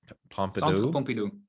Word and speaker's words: Pompidou: Centre Pompidou. Pompidou? Yeah, it's French.